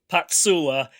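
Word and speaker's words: Pacuła: joanna you're going to correct me on the pronunciation it's patsu more or less yeah patsula does a yeah she does a good job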